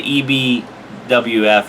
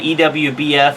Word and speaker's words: EWBF: We are using the, I always say it wrong, it's the EWBF. I used to call it the EBWF or something. I would call it always like backwards, but we're using the EWBF version 0.6 miner.